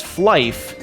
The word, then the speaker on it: Flyff: Fly for Fun or fly FF and apparently pronounced by the community as fly is that MMO RPG